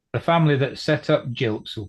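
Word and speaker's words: Gilk: What was this, Jukes? Dukes? You're calling it Jukes or something? No, Jilks. It's G-I-L-K, spelled pronounced with a J.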